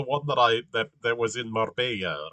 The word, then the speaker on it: Marbella: that that was in Marbella, right? That See there, I pronounced it with a hard B, like because I'm an English speaker, right? Marbella, right? There's no distinction between a B and a V.